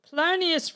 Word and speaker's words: Polonius: Polonius rhymes with erroneous.